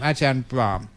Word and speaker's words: Ajahn Brahm: we pronounce your name aan brah always remember there's an m on the end otherwise it sounds like ladies underwear they got they they